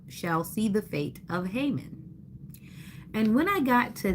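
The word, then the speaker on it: Haman: And another person would say Hammond or something like that, but it's Hmon. So that's the pronunciation.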